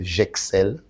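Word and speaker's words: Jexel: J'Excelle.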